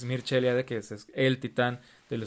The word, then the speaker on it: Mircea Eliade: Zimmer, como Mircea Eliade, o se escribe Mircea Eliade, pero tengo entendido que es Mircea Eliade, que es el titán del estudio de las religiones.